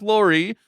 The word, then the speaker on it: Lore: Make sure you spell Lori L, which is spelled like lore, but you know, say Lori.